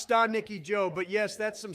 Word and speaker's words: Stanicki: Still though, I saw Ricky Stanicki the other day and it was all right.